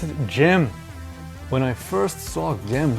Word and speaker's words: Gem: a lot better on a PC no you pronounce it gem when I first saw them running on this